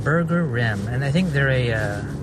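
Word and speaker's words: Burgerim: your name so it's they say it's burger rim like you know toilet rim burger rim anyways I just visited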